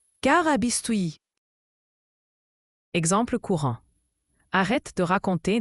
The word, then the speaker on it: carabistouille: Carabistuyi se prononce Carabistoui.